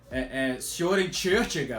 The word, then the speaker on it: Søren Kierkegaard: mencionei, o Kierkegaard, né, Søren Kierkegaard, que aí a pronúncia, ele é dinamarquês, então assim, Søren Kierkegaard, eu já perguntei pro dinamarquês, mais ou menos por aí, mas também Friedrich Nietzsche, né,